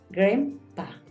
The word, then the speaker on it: grandpa: decir grandmother grandma grandfather Grandpa Acuérdate que esa a suena más como una e Ahorita estaba como escribiéndola entonces Bueno pero resulta que suena más Grand grandmother grandma grandfather Grandpa